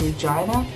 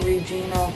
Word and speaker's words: Regina: live in, it's called Regina. We don't pronounce it Regina. I know in other parts of the world, when you spell it out, they go, "Oh, Regina." No, here it's Regina.